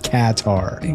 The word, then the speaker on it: Qatar: They say Qatar, like Katar.